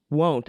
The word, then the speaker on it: won't: I pronounce it want, which really doesn't make sense grammatically. Let's bring back won't, I guess, is I think what Major Headache is saying, that they prefer it be pronounced won't.